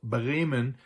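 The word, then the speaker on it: Bremen: population of well over half a million people ban is a very important German port city and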